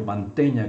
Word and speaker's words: Mantegna: mais importantes do renascimento mantenha que se escreve com g e que é como o verbo manter mantenha a pronúncia é e ele faz